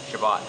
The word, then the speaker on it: Chabot: Do you pronounce it Chabot or Chabot? Chabot. Chabot. Ha ha. The incorrect way.